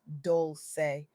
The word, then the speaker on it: Dolce: I'm your host, Dolce, pronounced doulce, like sweet softness whispered in French, and I'm your guide